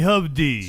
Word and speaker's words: Hovde: And it's so important that we make sure our water is safe and They call me Hovde. So, yes, pronounced with an Hovde.